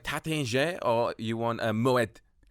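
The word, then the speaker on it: Taittinger: You and pronounce it's the Tatinge, but we just say Tattinger.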